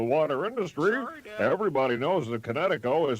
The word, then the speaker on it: Kinetico: I thought the instructor said Connecticut, not you should have remembered kinetic as in kinetic energy with an O on the end. Kinetico.